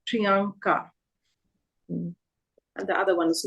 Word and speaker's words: Priyanka: in the other name we have Priyanka both of them are the a sounds but if you notice here the first a is n so prianka and the other one